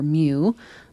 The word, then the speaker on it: mu: of the Greek letter mu but it's pronounced like m-e-w like a cat mu and then that's